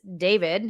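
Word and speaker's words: d4vd: This is rapper, apparently pronounced this David, his name is David, American singer-songwriter who rose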